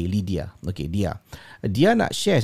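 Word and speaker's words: Lidya: Nama dia, ejaannya L-I-D-Y-A, Lydia.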